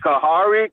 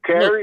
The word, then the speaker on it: Kahari: Hey, how you pronounce it? Kahari? Kari? No, just Kari. Kari.